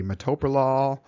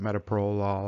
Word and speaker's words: metoprolol: the ears and cough number three number three metoprolol or some people call it metaprolol i hear it pronounced both ways metoprolol metaprolol it's a beta blocker it's available in the